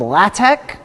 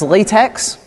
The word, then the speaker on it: LaTeX: Okay, so that's called LaTeX. It looks like it should be pronounced latex. It's pronounced LaTeX.